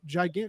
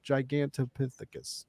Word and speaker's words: Gigantopithecus: awesome and I think I said that gigant no gigant no I said it wrong gigantopithecus yeah I said it